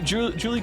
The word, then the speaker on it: Juli: Since we're in the mood for correcting pronunciations, let me drop the fact that both of you are pronouncing Julie wrong. It's Spanish. It's Juli, like Juli.